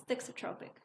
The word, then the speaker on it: thixotropic: I'm never sure if I'm pronouncing it right, but it's thixotropic. Thixotropic.